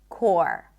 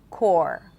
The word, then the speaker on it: corps: And then also the word core, the PS at the end, gone. Core, core, core, like the Marine Corps, core.